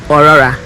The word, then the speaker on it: Aurora: short form is Rory the pronunciation think of authentic a u it starts with a u think of audacity a u so it is O Aurora Aurora Glory that's what's the